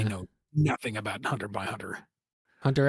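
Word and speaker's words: Hunter x Hunter: I suppose apparently the X is silent, so it is just supposed to be Hunter Hunter like spy family.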